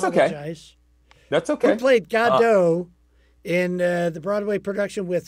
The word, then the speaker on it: Godot: It is actually pronounced Godot because it was like waiting for God. That was a thing. But that's okay. That's okay. Who played Godot in the Broadway production with Sir Ian McKellen and Sir Patrick Stewart?